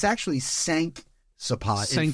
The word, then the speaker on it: cinq: It's actually cinq sapage. In Cinq French, sapage. 5 is pronounced Yes.